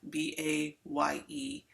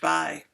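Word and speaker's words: Bayh: at the time birch bai b-a-y-e and i have struggled with that pronunciation because i always want to call them birch bay but uh birch buy put forth uh an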